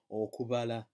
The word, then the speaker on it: okubala: So you pronounce that as okubala, okubala, v, v, v. It's a very soft B.